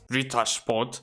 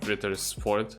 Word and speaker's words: Ritter Sport: in my opinion, there's Rita Sport. That's how you pronounce it, by the way. It's not Ritter Sport.